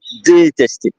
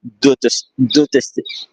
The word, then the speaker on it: détester: But the first E is accent aigu, et détester. Else it would have been pronounced détester.